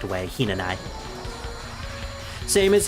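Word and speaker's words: 比那名居: out the actual word, it's actually not Hinanawi, it's Hinanai, because the W is silent.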